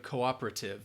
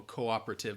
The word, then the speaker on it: cooperative: think of British Cooperative they might say that o sound more in that first syllable Cooperative but I'd say Cooperative that stresses on that second syllable Cooper Cooperative cooperative and again that you have like an unstressed syllable in there it's kind of like saying Wednesday you don't hear that NES Wednesday Cooperative I don't think